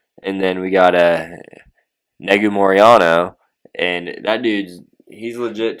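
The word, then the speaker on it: Negumereanu: call him nick it's nikolai but nick negomoriano negomoriano is how it's pronounced he's fighting kennedy and chequa kennedy in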